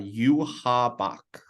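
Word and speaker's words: Yhwach: of the Quincy's and it is you habak it's spelled y-h-w-a-c-h you want to give it another pronunciation so that everyone's on the same page yep uh you ha Bach so the b-a-c-h at the end um it's basically they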